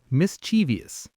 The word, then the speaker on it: mischievous: Normal speed, mischievous. Go ahead. My brain always wants to add an extra I in there, like mischievous, but it's just 3 syllables.